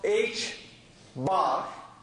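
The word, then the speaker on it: ħ: one also later in the course this is pronounced h bar because of this time on top this is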